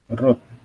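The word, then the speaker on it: wrote: Bacanya bukan write ada W-nya ya. Cuma write aja. Jadi right. Nah, kalau verb 2 itu adalah root. Cuma dibaca root-nya aja, W-nya enggak dibaca.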